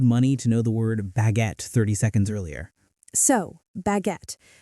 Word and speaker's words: baguette: The emphasis is on the second syllable. Baguette. The U E at the end is silent. We don't say baguette-a. Just baguette.